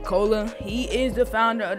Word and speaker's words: Kolah: pat's may jay and i think you pronounce like cola he is the founder